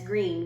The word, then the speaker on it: Greene: Greene, that's Greene with a silent E at the end, discovered they were expecting a baby girl.